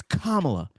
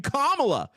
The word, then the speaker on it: Kamala: it's not kamla it's comma no it's not it's Kamala you're saying it wrong you're saying it the racist way so instead of being belligerent about it and saying I'm saying Kamala I go okay sign